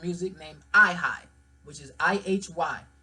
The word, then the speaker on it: Ihy: named Ihy, which is I-H-Y. And some say you can't pronounce his name unless you're singing. Yes, nigga, you can. It's Ihy.